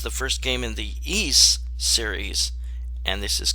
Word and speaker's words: Ys: six books of ease and again it's not pronounced wise it's east and defeat these evil forces and it's got